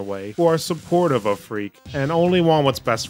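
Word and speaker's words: Freq: So the story is centered on our player, Freak. And I'm not making that up. It's spelled F-R-E-Q, but I wouldn't blame you if you thought it was spelled F-R-E-A-K.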